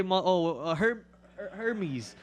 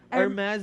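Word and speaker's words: Hermès: Yeah, it's like you can say Hermes. Hermes bag. Yeah, Hermes. There's like so many ways to say it. That's all because like it's all because of French, yes, all that stuff.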